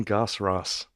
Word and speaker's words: Goss-Ross: going here having the gospel all right gasps rose is my name I didn't make it up